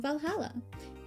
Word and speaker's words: VA-11 HALL-A: she posted about us the name sounds silly and a bit hard to pronounce good things it's actually called Valhalla the funny numbers and letters are just a code anyway I visited this